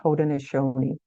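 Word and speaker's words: Haudenosaunee: 1600s they the hodon which that's how you pronounce that word hoden aoni um who used to live south of the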